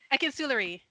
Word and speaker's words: Akinsulire: And I have with me Jasmine Akinsulire. I keep getting the pronunciation incorrectly. You did a good job. Akinsulire.